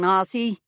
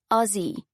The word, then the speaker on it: Aussie: "How's it going, Aussie?" In his thick Bronx accent, it sounded more like Aussie. "You've got to pronounce it like the S's are zeds," she said with a grin. "Aussie, not Aussie."